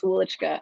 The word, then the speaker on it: Welychka: It's Welychka.